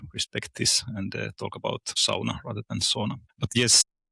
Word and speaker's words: sauna: I'm glad you are using the word sauna and pronouncing it as it is, because I'm doing it too, and some people are saying sauna and like trying to make it sound more English, but this is kind